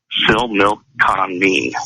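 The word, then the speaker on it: Similkameen: i l k a m n and it's pronounced Sil milk con me okay and I tell you it was one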